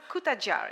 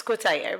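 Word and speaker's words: Cutajar: more of bio so josie kuta jar is that correctly pronounced it's kotaya but everyone quite a journey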